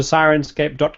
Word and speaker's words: Syrinscape: and about Sirens scape yep so go to senscape like but it's spelled s y r i ncape and you